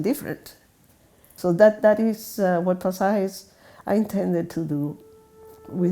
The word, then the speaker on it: Pasajes: I pronounce it pasajes, and it's chapters.